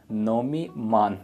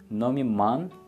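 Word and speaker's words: Номи ман: So, my name is, you can say Nomi Man. Don't read it like man, man. Nomi Man.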